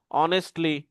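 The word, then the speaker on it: honestly: তো এইগুলো সঠিক উচ্চারণ হচ্ছে ডিফারেন্টলি, বেসিকলি, অনেস্টলি, ওয়েন্সডে।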